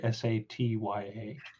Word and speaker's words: Satya: i'll say now is that pronounced sapiya or satya whichever one whatever the correct pronunciation is okay yeah it's like so if he were to try and spell it in common it would be like s-a-t-y-a oh okay so it's like sat ya satya